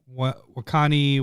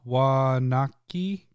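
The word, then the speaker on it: Waunakee: It's Wakani, Wisconsin. No, Wanaki, Wisconsin. Okay. It's almost like Milwaukee, but with a W, but nothing else is spelled the same.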